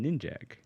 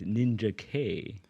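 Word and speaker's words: Ninjak: ninj ninj uhuh but his name isn't ninj it's ninja K oh oh then he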